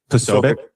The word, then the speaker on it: Posobiec: How do you pronounce his last name? You can Posobiec.